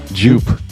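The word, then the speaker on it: Joop: How do you fucking pronounce it? Jupe. J-O-O-P. It's It was Jupe.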